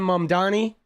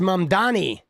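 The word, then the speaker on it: Mamdani: themselves because of Zoron Mandani. The name is Mamani. M A M D A N I should learn how to say it.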